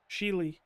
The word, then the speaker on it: Scheele: Shout out to I don't know how to pronounce his last name. Is it Scheele or Scheele? Scheele.